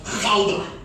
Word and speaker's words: Gouda: รู้จักใช่ไหมเราเคยได้ยินนะคะอีแดงกับกูด้า Or if you're from Holland, that's pronounced Gouda. ถ้าเป็นคนฮอลแลนด์จะออกเสียงว่าเกาด้านะคะ In America, we say Gouda.